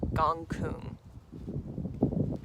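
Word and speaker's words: Gonggong: planet called gong gong gong gong is how it's spelled but it's gong Kung similar to that is how you pronounce it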